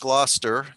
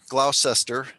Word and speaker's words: Gloucester: um up the coast past gloucester glaucester depending on how you pronounce it i am actually